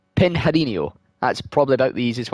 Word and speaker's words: Pinheirinho: 9 at the left-hander, I think I can say this one, it's Pinheirinho.